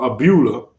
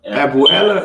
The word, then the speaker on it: abuela: How do you say grandmother in Spanish? In Spanish, that's abuela.